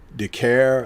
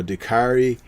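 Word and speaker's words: Dicaire: woman of marie eva de care i think her name is pronounced or dakari um they're fighting uh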